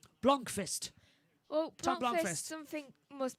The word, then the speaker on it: Blomqvist: How do you pronounce person in number 17's name? Blomqvist.